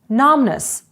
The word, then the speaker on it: numbness: Numbness – оніміння, літера B не вимовляється.